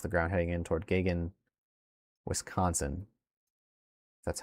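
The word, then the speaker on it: Gagen: And there's already 82 mile per hour pixels at 9,700 feet off the ground heading in toward Gagan, Wisconsin. That's how it's pronounced.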